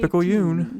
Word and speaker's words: Picayune: Times Picayune, dated June Times 18, Picayune, that's how we pronounce it.